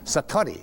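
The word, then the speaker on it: satori: excuse my Japanese, but it's called sati. I'd love to say that satari s a t o r i and it means instant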